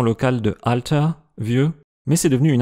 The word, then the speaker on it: oida: devenir e argent un mot à retenir c'est prononciation locale de alta vieux mais c'est devenu une interjection qui peut